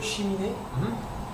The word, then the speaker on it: cheminée: Ouais, balayer, nettoyer le cheminée. Cheminée. Cheminée. Think about the pronunciation. It's an E, so it's a dull sound.